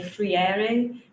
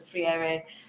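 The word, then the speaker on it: Freire: So, to develop this concept of power, I I turn to I'm going to say frier. My Brazilian friends say I keep saying it wrong, but I'm a friend.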